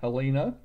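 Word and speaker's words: Helena: makes it a long a Halina Montana because it's got one L that makes it a long e alena and so we never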